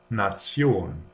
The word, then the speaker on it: Nation: If a word ends in this here, it is pronounced tion. For example, Nation.